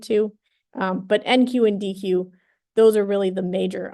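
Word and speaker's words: dequeue: let me write it out dqe differs from D qu e e so this is pronounced deck and that's something different so spelling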